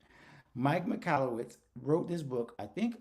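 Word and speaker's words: Michalowicz: his name deserves to be said right Mike mallwitz wrote this book I think almost probably about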